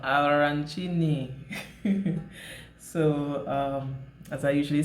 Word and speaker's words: arancini: It's an Italian dish and it's called arancini. It's pronounced with the roll of the tongue, arancini.